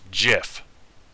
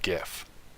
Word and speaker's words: GIF: the most important one it's pronounced jif not gif those have been my